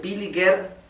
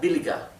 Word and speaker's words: billiger: Y la R es casi imperceptible. Así que esto, en vez de pronunciarse billiger, sería billiger. ¿Bien?